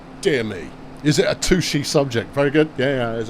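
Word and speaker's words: touché: It's spelt touch with an E on the end. It's French. Touche. Yeah? Right? And it means touch, and it's from fencing, where one would touch blades with rapier after a point is scored to go, well done, sir. Touche. There's an accent on the E as well.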